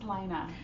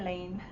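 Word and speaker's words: Laine: Yeah, it's Lina. I always say Lane.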